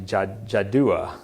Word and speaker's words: Jaddua: I guess that's actually Jaddua. Sorry, I've been saying it wrong. Jaddua was the name of the high priest. Jaddua, while the Jews with one voice greeted Alexander.